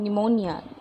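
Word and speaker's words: pneumonia: है इन तीनों कंडीशन में पीछे हो जाएगा साइलेंट हो जाएगा जैसे को उस अ निमोनिया निमोनिया तो वह बहुत कॉमन लैंग्वेज इवन जूजू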